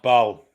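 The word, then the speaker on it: Bâle: It's pronounced Bal, Alex. What is? You said it was Basel or Basel.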